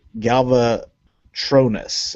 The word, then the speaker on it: Galvatronus: a Galvatron head, and the combined form is going to be called Galvatronus, and you put a long O on.